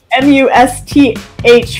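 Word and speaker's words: musth: Could you please pronounce M-U-S-T-H for us? It's a difficult one. It is. Okay, ready? Must.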